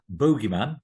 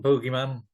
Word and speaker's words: boogeyman: Well, I always refer to it as a bogeyman, and I have a little treat over here, even though it is spelled there. It's spelled boogeyman, Right. which is how the Americans say it. The Americans always say boogeyman, but I was brought up with it being the bogeyman.